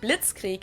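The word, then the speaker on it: Blitzkrieg: actually had been used way before that we pronounce it Blitz Creek in German and it literally translates to lightning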